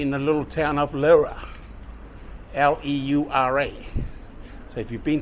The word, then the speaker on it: Leura: How do you say Leura? Yeah, Leura. Leura.